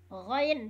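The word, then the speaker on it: غين: Ghain, dibacanya di metode Umi, ghain, Bun. Ghain.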